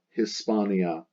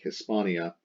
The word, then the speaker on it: Hispania: the letter H, like Hispania, the H is nearly silent, the B eases pronunciation.